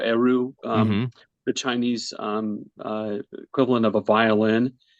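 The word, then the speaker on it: erhu: Originally I wanted to use, I think you pronounce it Iru or Eru, Mm-hmm.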